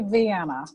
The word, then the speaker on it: Vienna: So am I pronouncing the town's name right? McLean? Well, it's actually Vienna.